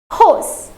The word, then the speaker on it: rose: Okay, let's try to focus on its pronunciation. It is hose.